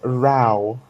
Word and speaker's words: row: whoa no no no I didn't make a mistake I actually I mean row it was a second was a second way you can pronounce the row row or you can pronounce Rao yes I you can